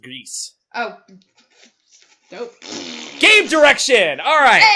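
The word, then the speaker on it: Gris: It's pronounced Grease.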